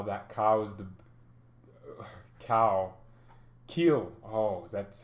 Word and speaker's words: Kiel: julia summer now that cow is the cow kill oh that's how you say their name yes